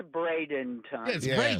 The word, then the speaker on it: Bradenton: Sandy, do you say Bradon or Bradington? Oh, it's Bradenon. Yeah, exactly. The Braden River, Sandy, go for pronunciation.